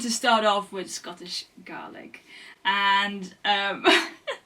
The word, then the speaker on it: Gaelic: it's Scottish Gaelic or actually I should say garlic and I don't mean like the garlic the